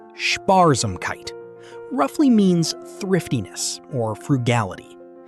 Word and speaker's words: Sparsamkeit: Sparsamkeit, pronounced Sparsamkeit, roughly means thriftiness or frugality.